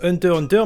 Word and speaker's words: Hunter x Hunter: on va parler de hunter x hunter d'ailleurs petit point très rapide pour éviter certains commentaires oui je sais que normalement se se prononcent hunter hunter mais comme on dit